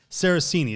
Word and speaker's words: Sarazen: So in New York, there was a young caddy named Eugenio Saracini. Yeah, Saracini. Sure. Yeah. Eugenio Saraceni is how I believe it's pronounced.